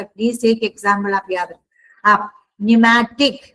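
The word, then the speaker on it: pneumatic: Please एक example आप याद न्यूमैटिक पी साइलेंट है।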